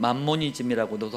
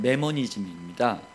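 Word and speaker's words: mammonism: 사람들은 맘모니즘이라고도 하는데 영어 발음은 매머니즘입니다.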